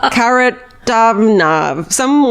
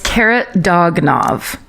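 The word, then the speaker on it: Kharitonov: Karatomnov. One of his fucking descendants is so mad at me right now for getting that name wrong. It's Karatonov.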